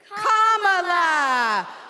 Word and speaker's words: Kamala: First, you say comma like a comma in a sentence. Then you say la like la. Put it together and it's one, two, three, comma la.